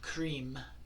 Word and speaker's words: Krim: It's a usually one syllable mantra that is the vibration of a particular deity, and Krim, K-R-I-M again, is the mantra for Ma Kali.